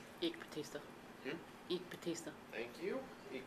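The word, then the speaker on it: Eike Batista: Terrible pronouncing names. Eek Batista.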